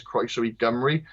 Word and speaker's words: Croeso i Gymru: So that's why when you come into Wales, the sign doesn't say Croeso I Cymru. It says Croeso I Gymru. Because when you've got the E before it, the C mutates to a G.